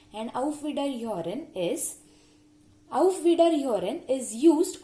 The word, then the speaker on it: Auf Wiederhören: Please note the difference and also the pronunciations. It's Auf Wiedersehen and Auf Wiederhören.